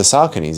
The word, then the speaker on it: Saucony: Oh, you mean the Sauconys? And he's like, no, like the Sauconys, yeah, like those. And I'm like, oh, that's how you say it.